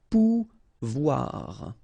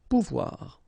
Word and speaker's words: pouvoir: And when you combine this O and I here, you get the sound OUA, okay? So, pouvoir, pouvoir. Aller, okay?